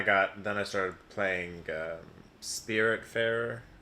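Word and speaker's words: Spiritfarer: then i started playing spirit fairer yeah that's how you pronounce that yeah and that's like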